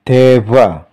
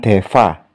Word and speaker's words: Dewa: Contoh lain, ini dibaca Dewa, bukan Deva.